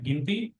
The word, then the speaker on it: گنتی: تو اس کتاب کا جو صحیح تلفظ اور نام ہے گنتی.